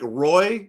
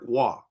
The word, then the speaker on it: Roy: He butchered names. Like, Patrick Roy instead of Patrick Wah.